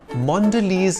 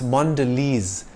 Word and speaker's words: Mondelez: multi-air is the French word for luggage maker Mondelez is the American multinational company that makes and bakes Brands like Cadbury Oreo and five star it's not pronounced Mondelez or mondele it's Mondelez when Kraft Foods split into two companies it